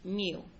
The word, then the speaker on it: mu: This is like a lowercase u with a tail in the front and it is pronounced mu.